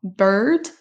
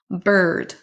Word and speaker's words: bird: a un i dans bird, le mot oiseau. Et là on ne va pas le prononcer. On ne prononce pas le i comme à la française. On va prononcer comme un son e. Bird.